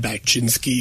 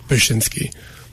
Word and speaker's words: Bachynski: our new mayor Chad bachinsky whoa I don't think I pronounced his name right bashinsky yes yeah um yeah